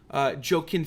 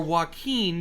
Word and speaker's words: Joaquin: the movie the Joker that was done by joke in Phoenix or Joaquin depending on how you say it the least